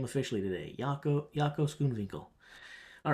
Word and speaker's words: Jaco Schoonwinkel: Jaco Schoonwinkel.